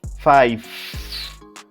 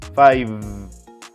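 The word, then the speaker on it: five: It must finish with the final V sound. Most people pronounce it with an F sound, but it must be V sound. Listen. Incorrect. 5. Correct. 5.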